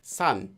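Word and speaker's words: 山: For example, this character in Hanja means mountain, and Koreans today read it as san.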